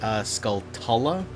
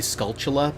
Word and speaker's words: Skulltula: I always crowing up I always used to call them a Skulltula and I'd also heard them pronounced sculpt ala but I'm pretty sure it's supposed to be skull chilla because it's like like tarantula and that's how it